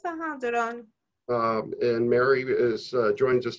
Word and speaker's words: Duron: Is that how it's pronounced, Duron? Yes, Duron.